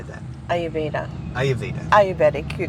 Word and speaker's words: Ayurvedic: Ayurvedic, you're correct.